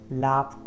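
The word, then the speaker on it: laughed: Then हमारा next letter है, देखिए जी एच है तो इसको लाफ, लाफ्ट पढ़ते हैं, ब्रेथेड, then missed, then danced, then fixed.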